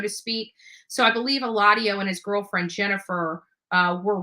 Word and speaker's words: Eladio: Eladio. I think that's the pronunciation.